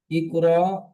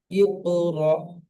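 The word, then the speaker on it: اقرأ: এখানে একটি নতুন কি হবে, সাকিন ওয়ালা হামজা ধাক্কা দিয়ে বা ঝটকা দিয়ে উচ্চারণ হয়। কেমন? ইকরা, তা, তা, তু না, ইয়াতিকা, কেউ যদি পড়ে ইয়াতিকা ভুল পড়বে, তা তু না ভুল হবে, ইকরা কেউ যদি পড়ে ভুল হবে, সঠিকটি কি? ইকরা, ইকরা, ইকরা।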